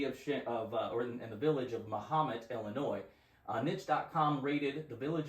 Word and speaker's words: Mahomet: All right, so Mahomet, Illinois.